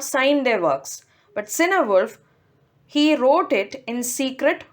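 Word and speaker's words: Cynewulf: they succeed in battle the next poet is cinewolfe chinawolf wolf these are the different pronunciations that i found on google so i think i'll stick to cinewolf nothing much is known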